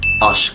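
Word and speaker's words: aşk: وطبعا قبل ما انهي الفيديو هقول اهم كلمه بتستخدم اللغه العربيه في اللغه التركيه وهي كلمه عشق، اشق، لان ما عندهمش حرف العين فبيقولوها اشق.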